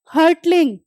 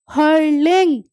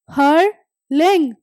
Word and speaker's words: hurtling: अगर आप इसको स्पेलिंग से पढ़ते हो तो वो क्या होता है? हर्टलिंग। बट ये गलत प्रोनाउंसिएशन है। ठीक है, आप इसको कैसे प्रोनाउंस करोगे? हर्लिंग। दोबारा सुन लो, हर्लिंग। टी is silent.